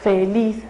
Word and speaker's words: feliz: tónica esté al final entonces la palabra feliz no la palabra feliz termina en Z Entonces yo sé que es seguramente No por el sonido es una aguda feliz No termina en ese